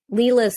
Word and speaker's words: Lila: I just caught um Leela's character is spelled l-i-l-a and I'm like that's like a really interesting way to spell Leela well the director of